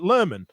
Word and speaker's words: Lohman: tune here together because we read it as Lohman, but the way in West Yorkshire they pronounce Lohman, they pronounce it Lerman, which is actually factually correct, right?